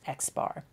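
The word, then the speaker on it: x̄: class we will use the X with the bar over it and it's pronounced X bar so anything with a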